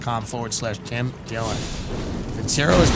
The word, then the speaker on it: Vincero: o collective dot com forward slash tim dillon vincero is pronounced vincero on its semiannual sale is here